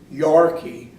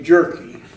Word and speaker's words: Jerke: through immigration they couldn't they pronounced it Yorkie his way was supposed to be but the people that were doing the interview there they changed to jerky that's funny huh so